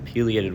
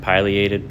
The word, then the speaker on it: pileated: at here is a pated woodpecker some people pronounce it Pileated but they're wrong so yeah it's a